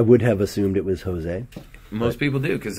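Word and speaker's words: José: right now Josie Aldo this is Jose or Jose it's actually Jose eh I did not know that yeah he's a living legend Woodhead yeah I would have assumed it was Jose most people do because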